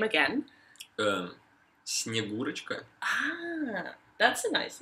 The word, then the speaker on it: Snegurochka: It's just his granddaughter, Snegurochka, and some of the snowmen, you know. That sounds interesting. Can you say her name again? Snegurochka.